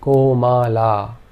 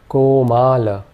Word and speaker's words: komala: The O is always a long vowel sound, and the A with a bar over it is a long vowel sound. So this word is pronounced komala. In this case, we would say komala.